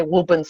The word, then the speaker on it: Woburn: Well, I have to jump in and say you pronounced it the right way, because being from Gloucester, I have to say Wubin's the way you're supposed to say it.